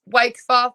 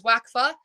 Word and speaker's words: Wakfer: that one came because my last name is wakea everyone mispronounces it as wacka um so just sh